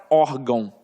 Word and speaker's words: órgão: Agora eu quero muita atenção para a palavra órgão. Órgão, sóton, órfão, fica de olho nisso, porque na verdade eu tenho aqui, ó, uma paroxítona, beleza, terminada em ditongo.